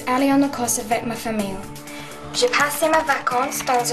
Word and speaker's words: famille: Also, another word is famille. You've got to have like a ye, yellow, like in yellow.